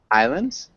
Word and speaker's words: island: you explain this world Islands yeah islands uh the pronunciation is just kind of different andir choir yeah okay